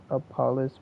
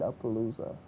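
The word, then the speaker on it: Apollousa: talker, or maybe even Apollos bow, Apollos bow of the no Aspalooza. Okay, that's how you say it, Appaloosa.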